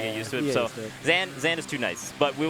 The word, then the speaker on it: Zain: 2nd, 1st, Hbox, Jmook, and Zain at the top.